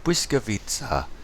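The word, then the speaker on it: Błyskawica: Blyskawica.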